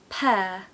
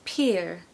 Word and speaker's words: pear: fruits in my opinion what we don't want is peer peer because that sounds like the verb to peer which is